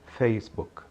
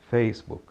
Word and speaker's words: Facebook: atenção entre nação correta a sílaba tônica neste caso é a primeira então diga facebook facebook a tonicidade veja parte